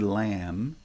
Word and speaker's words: lamb: So although the word lamb is spelled with four letters, L-A-M-B, there is no b in the pronunciation.